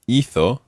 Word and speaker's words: hizo: But with hizo, the stress is on the first syllable.